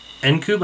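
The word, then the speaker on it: Ncube: Alexandra Nkube, or Nkube, I believe is how to pronounce her last name. It's N's, then Cube.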